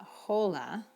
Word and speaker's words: hola: And you know that because in Spanish, hello is not hola. What is hello in Spanish? Hola. You don't even pronounce the H in Spanish.